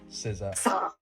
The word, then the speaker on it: SZA: Leah, SZA. Oh, I've always said her name wrong then.